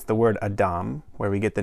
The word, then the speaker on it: adam: created the first human the adam and the reason i'm pronouncing it that way is because here god took the human from the top soil of the fertile land and this word is adama so quite literally it's the earth creature god